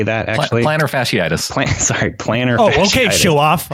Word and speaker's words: plantar fasciitis: yeah yeah he dealt with placer fan Platt placer fasciitis does anyone know how to say that plantar fasciitis classic planner okay show off hi so I